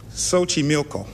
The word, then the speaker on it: Xochimilco: its floating gardens Stan's gonna take a chance Xochimilco I was afraid that's a Towers afraid I wasn't gonna get the right pronunciation - oh you did it as Xochimilco